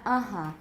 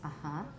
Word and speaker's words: uh-huh: said uh uh-huh right they should have put the stress mark on the second syllable not the first it's not uh-huh it's uh-huh uh-huh and it's also probably nasalized uh-huh also nasalized you can